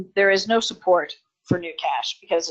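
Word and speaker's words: GnuCash: all kinds of businesses new cash which is spelt GNU for new new cash is similar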